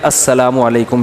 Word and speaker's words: السلام علیکم: میرے بھائی کا السلام علیکم اور صلی اللہ علیہ وسلم کا صحیح تلفظ بتا دیں. السلام علیکم کا ہے السلام علیکم, جو آج کل لوگوں نے ساشے پیش کر